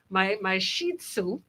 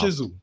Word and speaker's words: Shih Tzu: But there's so now that fast forward a million years later with my Shih Tzu.